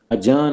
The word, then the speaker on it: adjourn: इसी तरह एडजस्ट होता है, हैव यू एडजस्टेड हियर, ये एडजस्ट नहीं होता, डी साइलेंट है। अजर्न होता है, ADJOURN, अजर्न।